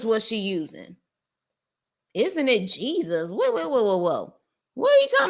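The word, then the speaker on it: Jesús: Now, of course, in the Hispanic world, it looks like it's spelled Jesus, but it's actually Jesus.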